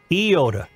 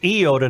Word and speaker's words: Iota: It's Iota, not Iota. I've lived in Winona County for decades. Not until I heard your show have I ever heard Iota pronounced, or rather mispronounced, as Iota.